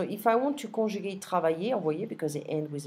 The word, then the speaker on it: travailles: And the same goes for tu travailles. Il travaille. Nous travaillons. Vous travaillez. Il, elle, notice that I'm not pronouncing the S, travaille.